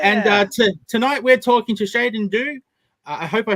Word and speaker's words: Sheydin Dew: So the preferred pronunciation of my name is Sheydin Dew. So you did have it right. It's all good. Sheydin Dew.